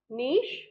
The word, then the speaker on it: niche: words like for example like cliche right like niche in both the words here CH is pronounced as she cliche and in this